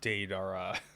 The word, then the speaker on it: Deidara: Apparently, I was pronouncing his name wrong. It's Deidara.